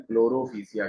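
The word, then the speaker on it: Chlorophyceae: एक है जिसको हम लोग क्या कहते हैं, क्लोरोफिशिया कहते हैं। क्लोरोफिशिया, PHYCEAE, ठीक है, थोड़ा सा स्पेलिंग ऐसी है।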